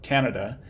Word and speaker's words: Canada: who's from the location stress shifts to be on this syllable here Canadian so two things happen one is that this bow which used to be an ah Canada changes into a schwa here so that gets reduced and we note as well that sort of the underlying representation of this is a but when we aren't stressing it in just the word Canada it just becomes a schwa so it's reduced kind